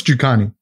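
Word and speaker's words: Njokuani: But now I have to pronounce his name right. I've got it here. I'm sure it's Jukani.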